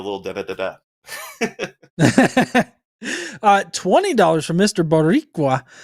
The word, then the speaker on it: Boricua: Boricua, pronounced Boricua. I did that right. Roll the R a teensy bit.